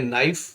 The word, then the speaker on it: knife: KNIFE, के नाइफ ना पढ़ के पढ़ेंगे नाइफ, नाइफ मैंने चाकू।